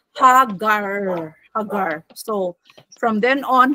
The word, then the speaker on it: Hagar: she became no ah in Hebrew the name Hagar is pronounced as haggar.